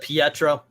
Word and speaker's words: Pietro: in some ways i'm the only one that pronounces it pietro that's what i said peer troll i know